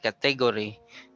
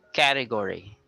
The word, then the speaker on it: category: It's not category, but it's category. So the stress is on the first syllable.